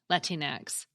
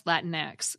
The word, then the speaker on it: Latinx: Well, Latinx is usually pronounced the way you've been hearing me say it, Latinx, and also more rarely as Latinx, according to Merriam-Webster and a video by the American Pronunciation Guide.